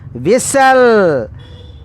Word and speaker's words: whistle: E also silent. And H also silent. And T also silent. What is the pronunciation? Whistle. Whistle. This is the correct pronunciation, my dear students.